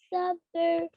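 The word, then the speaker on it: صبر: wa amilus salihati wattawasaw bil haqqi wattawasaw bis sabr. Bisabr. Sabr. Bisabr. Practice that, okay, Noor? I know it's hard. It's not sabr. It doesn't rhyme with summer. It's not sabr. It's sabr. Sabr.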